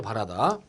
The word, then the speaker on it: 바라다: 자, 바라다에 대해서는 모음의 발음과 관련한 표준어 규정 제11항에서 다음과 같이 밝히고 있습니다. 팩트를 알아둡시다. 다음 단어에서는 모음의 발음 변화를 인정하여 발음이 바뀌어 굳어진 형태를 표준어로 삼는다 전제했는데 바라다를 표준어로 삼고 바레다를 버린다 그랬습니다.